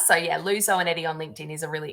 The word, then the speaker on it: Zoanetti: So yeah, Lou Zoanetti on LinkedIn is a really easy way to find me. Fabulous. Rhymes with spaghetti.